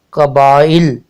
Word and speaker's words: قبائل: زیر اور لام پر جزم لگانے سے یہ تلفظ قبائل، قبائل بنتا ہے۔ اب ہمارا اگلا لفظ ہے